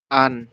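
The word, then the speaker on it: 앉: Ini anet dibacanya hanya an.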